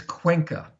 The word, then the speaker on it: Cuenca: do you say that Dave please it's it's Cuenca quaint oh yes okay wonderful and he's living